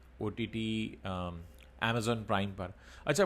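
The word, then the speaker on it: Amazon: अच्छा, बहुत सारे लोग इसे अमेज़न बोलते हैं, तो आप लोग अमेज़न मत बोला करिए, सही प्रोनाउंसिएशन जो है वो अमेज़ॉन है। आप अगर हिंदी में भी बोल रहे हैं तो उसको अमेज़न मत बोलिए, अमेज़न कुछ है नहीं एक्चुअली, अमेज़ॉन नाम है।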